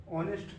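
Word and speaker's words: honest: ऑनेस्ट मैन ऑनेस्ट person ऑनेस्ट का भी हम लोग प्रोनाउंसिएशन करेंगे तो अ से आ रहा है ऑनेस्ट इसलिए ये भी आता है किसके अंतर्गत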